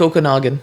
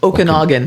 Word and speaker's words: Okanagan: I forget the name of the lake lake Okanagan Okanagan how big is the lake 70 M